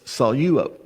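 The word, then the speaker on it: σαλεύω: But because there's a dip thong there with epsilon epsilon, you take the lambda and you put it with the first syllable. Okay? So it's salo.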